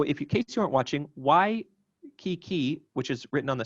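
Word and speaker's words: Waikīkī: about this so if your cases aren't watching y key key which is written on the screen now is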